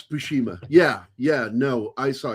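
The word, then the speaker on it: Buscema: Am I pronouncing? Yeah. You Yeah, it's Bushima.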